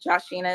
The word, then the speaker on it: Joshina: Um Joshina is how you pronounce my name.